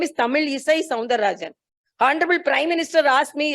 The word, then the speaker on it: Tamilisai Soundararajan: So he also told, so this is, most of the people, when I went to Telangana also, they pronounced me as Tamilisai Soundararajan. It's Tamilisai Soundararajan.